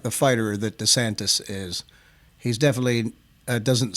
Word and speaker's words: DeSantis: ron desantis ron desantis my wife corrects me all the time desantis okay i said it right now so uh that would